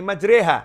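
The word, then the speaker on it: مَجْرٰىهَا: wasallam karena ada tulisannya bismilahi majreha Hey majri hati bacanya bismilahi majreha Hai tulisan dan ucapan berbeda ya itu harus bisa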